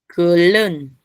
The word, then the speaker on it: 끓는: Pronúncienlo, alun. 알른. Alun. Alun. Muy bien. Acá, 알른. aquí. Kulun.